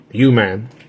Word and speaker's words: UMAN: You man, it's pronounced you, man.